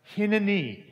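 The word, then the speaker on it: הנני: Here I am in Hebrew is pronounced hineni.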